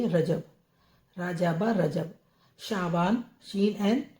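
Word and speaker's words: شعبان: जाबा रजब रे जीम बे रजब रजाबा रजब शाबान शीन एन शा बे अलिफ बा नून शाबान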